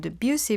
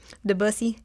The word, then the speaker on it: Debussy: Yeah, well, today we'll be talking about Debussy, but you or wait, I'm already butchering the name. Debussy? I don't know. Beautiful. I'm from Texas. Debussy.